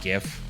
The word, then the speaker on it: GIF: it into a gif don't say anyth it's pronounced gif and if you say jif i don't whatever the game will give you